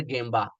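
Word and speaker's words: 現場: Some people are saying that Gmbba is correct but pronunciation is gamba that is sure.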